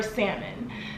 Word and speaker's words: salmon: but let me know I didn't start not pronouncing the L until I moved to New York and people were like